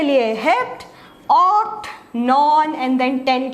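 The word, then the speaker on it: hept-: कई बच्चे कंफ्यूज हो जाते हैं विद सेप्ट, तो ये सेप्ट नहीं है, ये हेप्ट है। ओके, 7 के लिए हेप्ट, ऑक्ट, नॉन, and then 10 के लिए डेक।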